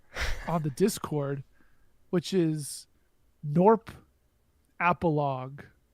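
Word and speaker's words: Gnorp Apologue: the Discord which is norp appal uh which is spelled g n o r p a p o something something if you type norp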